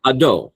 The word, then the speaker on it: Hadot: Yeah, and if you really want to be French, with a non-aspirated H. So, Hadot.